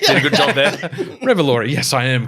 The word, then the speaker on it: Revolori: Revolori, I'm pronouncing that correctly.